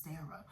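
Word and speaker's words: Serayah: I believe her real name is Sarah, but it's spelled like a beautiful way, like Seryh.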